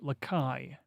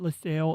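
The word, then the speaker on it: Lacaille: I think that's Lakai 9352 and Lakai 8760. Lakai, not LaSalle, Lakai. I believe. I could be wrong once again. Maybe it's French and it's pronounced in English as LaSalle.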